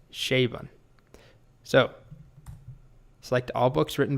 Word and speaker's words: Chabon: Well, I just Googled it, and apparently it's pronounced Chabon.